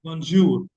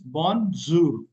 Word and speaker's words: bonjour: Okay how you can proniation is bonjour. Okay. So this is how pronunciation is bonzour. Okay. So bonzour.